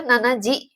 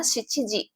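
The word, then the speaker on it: 七時: ya tapi Yoji ya lalu di sini ada angka 7 angka 7 Itu bisa dua ya pengucapannya bisa si atau Nana kayak gitu tapi dalam jam itu enggak ada nanaji ya adanya siiji ya adanya siiji ya dan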